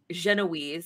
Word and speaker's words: Genoese: Genoese, I think is how you pronounce it. Yes. Genoese.